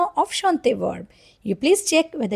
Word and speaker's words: chante: Because if I just talk about the first one that is shant letter uh is a silent letter here.